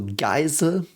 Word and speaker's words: Geisel: E and I is called I. So Geisel.